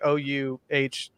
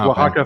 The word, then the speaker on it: Oaxaca: Oh, I thought that was spelled like Ouhax. Nah, It's like Oaxaca forever, right, Dylan?